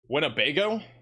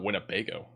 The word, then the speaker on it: Winnebago: Winnebago. It's definitely not Wnebago or what does that say?